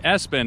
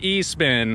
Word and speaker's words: Espin: quite a bit yeah so not a spin which I can see a lot of people have in that confusion since it's an e-bike so Espen is the correct way to say it now the rain bike